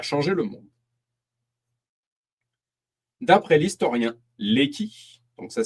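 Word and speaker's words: Lecky: D'après l'historien Léqui, donc ça s'écrit L E CY, c'est l'influence du grand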